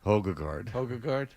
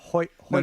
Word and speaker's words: Højgaard: Højgaard. It's like Hildegard, but with Ho. Højgaard. I could see how you wouldn't know that. Højgaard?